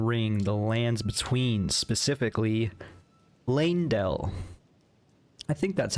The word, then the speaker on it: Leyndell: I would assume it's like ley line, because it's kind of spelled the first three letters, L-E-Y.